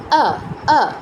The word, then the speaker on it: অ: আমরা মানে আপনারা অনেকেই হিন্দি পারেন, তো হিন্দিতে অ এর উচ্চারণটা যেমন, সংস্কৃতেও কিন্তু তাই, আ আ, অ নয়।